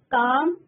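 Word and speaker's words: calm: Knife अगर हम बोलते हैं तो के साइलेंट होता है स्टूडेंट. ओके. काम, मसल, आलमंड, डिजाइन, डाउट, नील, आंसर, नाइफ, whom, autumn.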